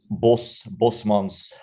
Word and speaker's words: Bosmans: How is it actually supposed to be? It's Bosmans. Yeah. Bosmans.